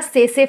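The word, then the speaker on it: tsetse: की बॉडी और दूसरा सेसे फ्लाई। कौन सा फ्लाई? सेसे फ्लाई। इसको हम लिखते हैं टी करके, लेकिन टी इसमें प्रोनाउंस नहीं किया जाता, इसलिए हम सेसे फ्लाई बोलते हैं।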